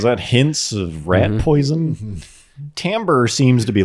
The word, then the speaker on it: timbre: term and sound um called timbre even though it is spelled timbre but it's just like they're